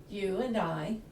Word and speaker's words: Ewe and Eye: It's E-W-E and E-Y-E, You and I, and it's based on the fact that the gallery includes visual arts.